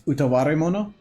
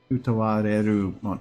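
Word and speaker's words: Utawarerumono: Oh, you're using syllables that I was not expecting. Utawareru mono.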